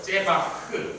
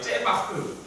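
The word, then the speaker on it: זֶבַח: 제바흐, 크도 아니고 흐도 아니고 중간 발음인데 한번 따라해볼까요? 제바흐.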